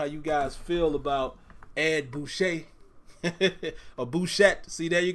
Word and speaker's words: Bouchette: guys feel about Ed Boucher or Bouchette. See, there you go again. I don't know how these names are pronounced, but I believe it's Ed Bouchette.